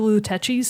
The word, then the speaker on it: Lutece: I call them the Luteccis because it's the Italian pronunciation.